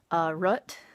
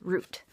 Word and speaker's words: root: a plant root and the different part in there is the double-o where some folks say rut like are you tea but for me and for most people around here it's root and the second is